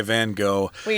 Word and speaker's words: van Gogh: you're talking to again but we're Americans here and we're gonna say van Gogh but you know whatever wherever you are that's how you use the pronunciation so here it says